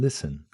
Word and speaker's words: listen: Silent T and listen, castle, and whistle dropped out in Middle English to make speech smoother.